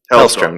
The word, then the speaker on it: Hellstrom: Now, your company is called the Hellstrom Group. Hellstrom? Am I pronouncing that right? Hellstrom, yeah.